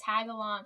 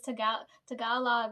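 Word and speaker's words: Tagalog: and then trev's like tag along and I was like you idiot that's not how it's pronounced it's t talog right and I was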